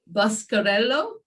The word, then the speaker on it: Boscarello: to welcome beautiful vanessa jane now let me pronounce your surname properly buscarello ovens is that right yeah but you can